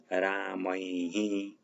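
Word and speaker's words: रामैः: तो द्वितीया में रामम, रामौ, रामान, और तृतीया में रामेण, रामाभ्याम, रामैहि, रामैहि ऐसे उच्चारण करेंगे, विसर्ग जो होगा उसका।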